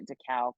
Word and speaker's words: Dachau: They went to Dachau concentration camp, or Dachau.